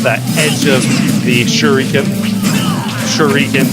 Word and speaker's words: Shuriken: Shuriken, pronounced as in Shoryuken. Sort of.